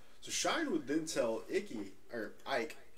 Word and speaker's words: Icke: So Shine would then tell Ike, I kept wanting to call it Icky the whole time because it is spelled I-C-K-E, and I am like trying so hard not to say Icky.